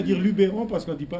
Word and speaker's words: Luberon: pas met on dit mes je je le prononce à la provenç ah ben alors nous on va continuer à dire Lubéron parce qu'on dit pas Luberon nous sommes donc un à sur notre interpellation